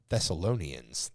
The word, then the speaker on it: Thessalonians: so it was uh Thessalonians is the correct way to say that you gave me uh